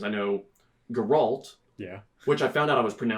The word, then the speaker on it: Geralt: I know Geralt, Yeah. which I found out I was pronouncing wrong until the show happened.